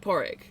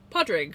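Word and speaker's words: Pádraig: And we had this one guy from Ireland whose name was Porrig, and he pronounced it Porrig, but you could also pronounce it Podrig, or there's a few other ways.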